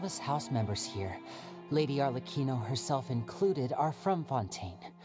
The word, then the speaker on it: Arlecchino: All of us house members here, Lady Arlecchino herself included, are from Fontaine. We won't give up on defending our homeland. Wait, ये Arlecchino नहीं है, Arlecchino है इसका pronunciation.